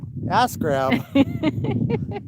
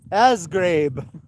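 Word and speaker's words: Asgrab: spelled a-s-g-r-a-b so nationally we pronounced it like it looks which is askground but we discovered through other local people they said no it's pronounced it was like asgraib or something I was like well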